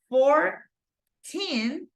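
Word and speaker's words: fourteen: Because you go 14 and then you go 40. So in this case, once again, the stress goes in the teen, second syllable, but in this case goes in the first syllable, okay?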